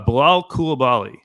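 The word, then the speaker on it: Bilal Coulibaly: so now I'm confused uh Bilal kulabali oh yeah did I say first of all did I say it correctly oh absolutely you nailed it oh that was great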